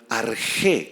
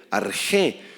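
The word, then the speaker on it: ἀρχή: subraya esa palabrita principio esa palabra griega arjé con x y acento en la e arjé y significa o se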